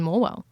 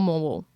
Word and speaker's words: Morwell: I've heard that the locals call it more. So less morwell, more moral.